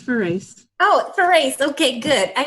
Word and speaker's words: Farace: It's Farace.